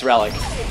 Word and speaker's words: relliK: It's relliK. Oh! Kill. Like, as an ancient relliK, but it's killer backwards.